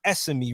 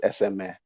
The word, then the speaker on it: Es: what i'm saying because it's pronounced sme right yeah well that's that's that's the westernized way the proper pronunciation the proper pronunciation is sma okay yeah so i